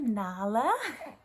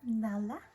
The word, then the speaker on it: Nala: All right, I want to introduce you to Nala. Oh, you know your name, Nala? Like the Lion King.